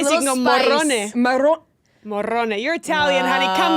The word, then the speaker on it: Morrone: You gotta be able to say Morone. Yeah. Let me just say that I pronounced it like did.